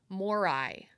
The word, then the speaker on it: Moirai: ancient Greek were called Moirai. Yes. And it's spelled a little bit differently. It's Moirai, but Ahsoka's bird, the convor, is called Morai. No extra I, so it's Morai.